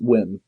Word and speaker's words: Nguyen: The creator, Dong Nguyen? Is that how you pronounce it? It's Nguyen. Dong Nguyen. Dong Nguyen? Nguyen, yes. Nguyen.